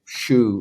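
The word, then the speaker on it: 守: of the fact that the word shoe is spelled s-h-u in Japanese but it sounds like shoe like what you put on your feet yeah and what I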